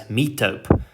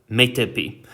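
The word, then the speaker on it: metope: is called a metapee for years i mispronounced this word as mitop um yeah so metepi um we'll get to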